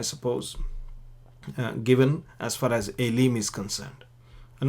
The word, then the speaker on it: אֵלִים: Again, it is pronounced the same way, Aileem.